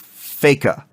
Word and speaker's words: Feika: the evil forces of feika which is supposed to rhyme with sega to stop them from